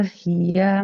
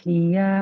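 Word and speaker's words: هي: Nah, ya fathah di depannya enggak ada alif maka enggak boleh dibaca panjang. Enggak boleh dibaca panjang ya. Qul hiya mawaqitulinasi wal haj. Coba diulangi ibu. Qul hiya mawakituinasi wal haj.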